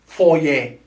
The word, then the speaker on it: foyer: this that's fourier fourier it sounds french if you have noticed it's small french foyer is a noun that means a lobby or a hall it could also mean a specific room in the place or in the house where you can keep close or any stuff okay four yeah it has two syllables four yeah now this